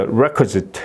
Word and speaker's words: requisite: 그래서 requisite 이렇게 이제 발음이 되고, 여기도 마찬가지로 이게 ITE가 어미이기 때문에